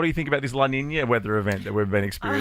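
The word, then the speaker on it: La Niña: time, pronunciation, La Nina.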